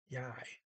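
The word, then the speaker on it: jeg: and um and just note that uh yeah i rhymes with i j e g i um i don't call that i don't call that a silent letter i look at the eg and think of that as an i yei okay and also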